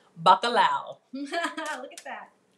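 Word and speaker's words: bacalhau: at our last yes we're making baccalau am i saying it right yes you are bacalao look at that it's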